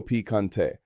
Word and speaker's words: picante: Not spicy is no piccante pronounced no picante.